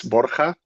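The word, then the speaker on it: Borja: Uh is it Borha or Bourja? I Yeah, almost. So the right is Borca, but I know it's a bit difficult to pronounce.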